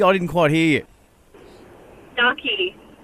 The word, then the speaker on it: Ducky: Was it Docky or Stocky? I didn't quite hear you. Ducky. Spell it for me.